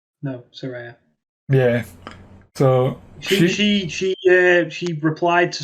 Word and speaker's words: Saraya: I put in brackets Sa-Re-Ya to make sure you knew how to pronounce it, because I was certain for years it was Saraya. No, Saraya.